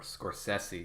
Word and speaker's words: Scorsese: review today and today i'm reviewing conversations with Scorsese or Scorsese if we want to pronounce his name properly if some of you